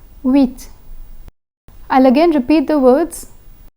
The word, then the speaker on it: huit: The letter H has been omitted from the pronunciation.